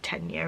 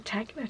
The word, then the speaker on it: Tegna: So everybody on earth has knitted the Tegna, or Tegna, I think it's pronounced Tegna anyway, by Caitlin Hunter, and